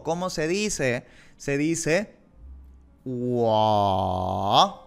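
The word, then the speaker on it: 我: Wa. Tercer tono. Wa.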